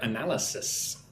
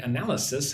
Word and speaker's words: analysis: Irina wants me to pronounce the word analysis. Right? Analysis has the sharp S sound like a snake. Analysis.